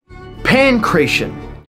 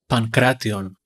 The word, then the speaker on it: pankration: Pankration. Pankration, or Pankration, or even Pankration. Four syllables, never three.